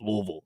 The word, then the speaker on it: Louisville: I just think it's it I just think I I I know that people down there in Kentucky it's it's Louisville.